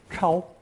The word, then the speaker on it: 抄: both pronounced first tone, 抄.